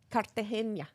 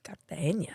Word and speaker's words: Cartagena: Very nicely pronounced. Cartagena. Cartagena.